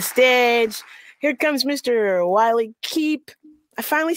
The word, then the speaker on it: Koepp: you you got that the O is silent but it's the shorty instead of the the longy it's cup I I think by